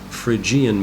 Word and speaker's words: Phrygian: the watchtower okay the next darkest mode is Phrygian I've learned it's actually pronounced Phrygian mode these are all Greek names and the